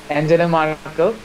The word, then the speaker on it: Angela Merkel: Rakibul Hassan Shubo, don't mispronounce the name of the second most powerful lady in the world. Angela Merkel, this time, if you have any chance in